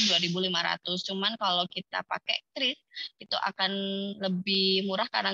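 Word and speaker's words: QRIS: ini yang Kris tadi, jadi bacanya jangan QR, tapi bacanya adalah Kris.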